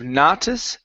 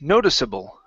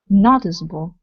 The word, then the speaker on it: noticeable: to this word here instead of notis notice noticeable noticeable no with an o sound okay might be more